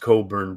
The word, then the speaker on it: Cockburn: Cockburn. It's pronounced Cockburn, but yes, but it's spelled Cockburn.